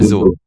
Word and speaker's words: zoo: Le zoo. Le bus. La boulangerie. Le zoo. I wouldn't say it's a long O, it's just a single. There's no length distinction in French, really. Very marginal.